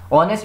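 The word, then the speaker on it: honest: एन यूज करते हैं यहां पे देखिए ऑनेस्ट ऑनेस्ट में भी एच है ऑनेस्ट लेकिन हम एच को नहीं पढ़ते हैं साइलेंट है हम ओ की आवाज निकालते तो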